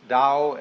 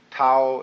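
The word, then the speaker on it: 道: all the Dao Dao pronounced Dao in the Mandarin dialects Tao in the Cheung high dialect toe in the Cantonese dialect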